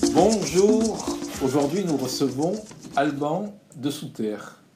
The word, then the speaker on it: Alban Desoutter: Bonjour, aujourd'hui nous recevons Alban de Souterre. Est-ce que j'ai bien prononcé? Exactement, c'est bien ça.